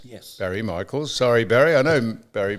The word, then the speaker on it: Barry Michaels: I watched it uh against Barry Michael. M Barry Michael. Michael. Michaels. Let's get his name right. With an S. Yes, Barry Michaels.